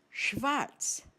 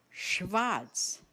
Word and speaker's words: schwarz: Black is schwarz, schwarz. The spelling? S-C-H-W-A-R-Z. Remember, S-C-H, this combination of consonants is pronounced as sh, just like the initial sound of the English word shower.